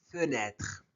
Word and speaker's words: fenêtre: Fenêtre fenêtre né et et né fenêtre.